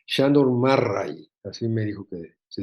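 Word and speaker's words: Sándor Márai: de una paciente húngara me dijo que se pronuncia Sándor Marray, así me dijo que se decía.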